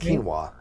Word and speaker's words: quinoa: you're looking for it's called quinoa no it's pronounced quinoa quinoa it's q-u-i-n-o-a quinoa i definitely see like a